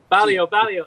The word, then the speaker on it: barrio: Barrio. I've been saying it wrong the whole time. All those tags. Barrio. Barrio? Yeah, like Mario. Mario. Oh, like Mario.